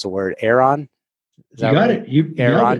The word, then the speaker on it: Aeron: Beverly Hills Chairs, the leading seller of refurbished Herman Miller, I can't pronounce the word, Aeron.